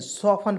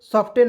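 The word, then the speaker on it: soften: होता है न इसमें टी टी ई को इसमें साइलेंट करेंगे ठीक है तो एस ओ एफ टी ई एन सफन पढ़ते हैं ठीक है सॉफ्टन नहीं पढ़ते हैं ठीक है और सफन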